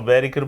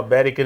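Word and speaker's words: Boetticher: Eu falo Beriker porque o Scorsese naquele documentário fala Beriker, então é assim que fala.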